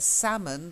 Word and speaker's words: salmon: Don't forget, salmon, the fish, is a silent L, salmon. Oh, salmon. Yeah, salmon. I'm sure we had it with, I think it was Hiawatha. So salmon, silent L.